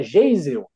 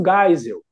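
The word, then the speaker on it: Geisel: desse ex-presidente do Brasil é jeisel aí eu falei não é é Ernesto gisel né assim coisas muito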